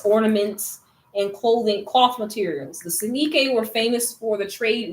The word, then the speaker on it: Soninke: Okay, so is that Soninke? I don't know how to pronounce it. Soninke or whatever. Soninke, yeah, you got it right.